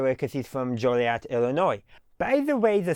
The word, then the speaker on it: Joliet: Now, you may ask, why is it pronounced Joliet rather than Joliet? You see the beginning part of Jolly, and then you see an E-T, so Joliet.